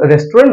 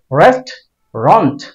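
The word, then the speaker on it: restaurant: এটার উচ্চারণ আমরা প্রায়শই ভুল করি, রেস্টুরেন্ট বলি এটাকে আমরা। এটার উচ্চারণ রেস্টুরেন্ট না, এটার উচ্চারণ হবে রেস্টুরেন্ট, রেস্টুরেন্ট, রেস্টুরেন্ট। দুটাকে একসাথে বলে ফেলতে হবে রেস্টুরেন্ট।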